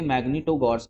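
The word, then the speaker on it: Магнитогорск: बाकी Detroit automobile है, फिर आपका मैग्नीटोगॉर्स्क, ठीक है, ऐसे प्रोनाउंस करेंगे मैग्नीटोगॉर्स्क, ये भी आयरन स्टील के लिए।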